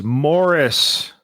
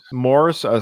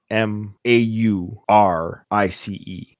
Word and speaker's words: Maurice: the wel just so you know Nathan it's Morris that's how it's pronounced Morris for us Canadians is m o r r i s but his name is spelled m a u r i c e oh we would say Maurice sometimes we'll record